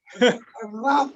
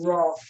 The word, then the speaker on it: Ra: Raw food. So when you hear me say raw, it's my accent, but it's spelled R-A. So a lot of people see R-A and they say raw.